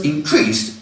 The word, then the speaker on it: increase: 10% increase in sales notice that the stress has changed and now the stress is on the first syllable increase is a noun there was a